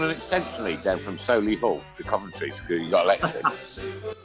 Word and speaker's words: Solihull: I don't even pronounce the H. I say Solihull. Solihull.